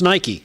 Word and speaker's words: Nike: Yeah, but what about the sports guy who can't pronounce Nike?